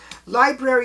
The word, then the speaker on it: Lybrary: Library is spelled Lybrary.